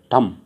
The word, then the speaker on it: thumb: उसके बाद THUMB, ठम, कॉम, क्रम, डम और टैट।